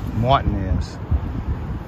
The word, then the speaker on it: Martinez: all right we're at the Walmart here in Martinez Georgia right between Augusta and Evans and Martinez is spelled just like Martinez but here in Augusta it is pronounced martinz all right let's see what what they got